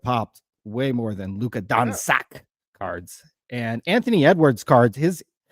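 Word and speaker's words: Dončić: Luka Doncic. Doncic.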